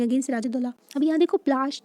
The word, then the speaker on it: पलाशी: अब यहाँ देखो प्लाश, जो बैटल ऑफ प्लाशी बोला गया है ना, तो प्लासी क्यों बोला, एक पलाश ना, इसका जो प्रोनाउंसिएशन होता है ना पलाशी होता है।